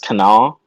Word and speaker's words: Kanawha: it's pronounced also apparently kanawha county is only pronounced canal and it's just like